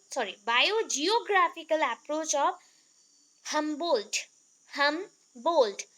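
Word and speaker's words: Humboldt: हमबोल्ट, D pronounce नहीं होगा, हमबोल्ट होगा, ठीक है, हमबोल्ट।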